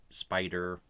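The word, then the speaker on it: SPDR: You can invest in this through what is called the Spider ETF. People pronounce this as spider.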